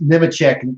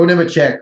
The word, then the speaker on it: Nemechek: I still pronounce Nemechek the way that he does, Eli Gold does, because I'm just so used to that. And Joe Nemechek winning, and not Nemechek, not any other pronunciation, but yeah, like so